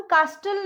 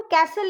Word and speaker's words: castle: ठीक है, एल से पहले अगर टी आता है तो वो साइलेंट होता है, उसको प्रोनाउंस नहीं करते हम. जैसे कि देखिए कास्टल, CASTLE, उसको हम कास्टल नहीं बोलेंगे, उसको हम कैसल ही बोलेंगे.